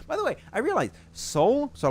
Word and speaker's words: Soul: so like Team Soul, they apparently you're supposed to say SAUL. You're supposed to pronounce it, I was told, but like I'm not doing that. Team Soul? Yeah, apparently because the O of Soul is an 8 if you look. And apparently some people told me apparently you're supposed to pronounce it SAUL, which does not sound good.